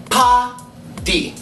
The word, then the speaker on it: party: The word is pronounced pa-di.